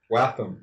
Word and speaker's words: Wehttam: Watham. Watham. Yeah. If you're gonna say his name, get it right. It's just Matthew spelled backwards.